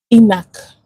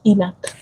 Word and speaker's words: ENaC: So, it's pronounced ENAC. Okay? ENAC channel. And it's the epithelia sodium channel. Can you imagine? Epithelia sodium channel. I said excretion. Epithelia sodium channel. So, pronounced ENAC.